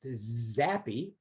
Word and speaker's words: xAPI: x api which i is i've learned is pronounced zappy the the key is the api basically scorm